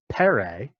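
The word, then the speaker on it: φέρει: So here is a root that comes out as Latin fert, Greek fere, or probably better pronounced as pere, with a puff of breath instead of f like you're used to.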